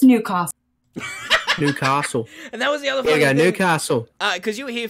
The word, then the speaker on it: Newcastle: I'm honour airily from Newcastle because I know how to pronounce it correctly it's not Newcastle its new cost Newcastle Newcastle because you